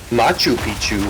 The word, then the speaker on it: Machu Picchu: It's actually Machu Picchu. It's not even Machu Picchu.